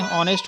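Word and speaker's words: honest: जो नेक्स्ट है यह भी इसको भी हम उच्चारण करेंगे ऑनेस्ट को तो अंश को हिंदी में कर लेंगे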